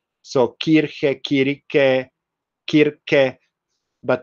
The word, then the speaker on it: Kirche: So if you speak German, you know that church is pronounced as kirche.